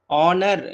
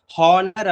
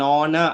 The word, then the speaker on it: honor: அப்ப ஆனர் இது வந்து தப்பா ப்ரொனவுன்ஸ் பண்ணுவாங்க, ஹானர் அப்படின்னு சொல்லுவாங்க. அது தப்பு. ஆக்சுவலி இந்த ஹெச் வந்து சைலண்டா இருக்கும். இந்த ஹெச் இல்லையா, இந்த ஹெச் எப்படி இருக்கும்? சைலண்டா இருக்கும். அப்ப சைலண்டா இருக்கும் பொழுது அப்ப என்ன சவுண்ட் வரும்? ஆனர் தான் வரும் இல்லையா, இல்லைன்னா ஆனர். நீங்க என்ன சொன்னாலும் பரவாயில்ல, பட் in between H sound வரக்கூடாது. வராம நீங்க எப்படி ப்ரொனவுன்ஸ் பண்ணாலும் ஓகே.